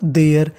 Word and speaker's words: there: इसे हम लोग देरे नहीं पढ़ते। आपको मैं बता दूं, अगर इंग्लिश के किसी भी मीनिंग के आखिरी में ई लिखा हो तो हमें ई का उच्चारण नहीं करना होता। तो मीनिंग बन गई देयर।